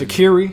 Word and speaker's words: Sha'Carri: i miss i'll miss shikari richardson shakira that's shaqiri shakira shakira shakiri richardson that's how you pronounce that shikari shaqiri shaqiri okay so carrie